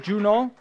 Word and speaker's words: Juno: Juno, am I pronouncing it close? Is it Juno? Juno. Yeah.